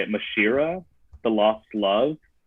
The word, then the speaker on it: mashiara: i don't even know how to say it mashira the lost love mashiara yeah yeah i i want a little bit